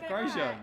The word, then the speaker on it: Grosjean: Grosjean.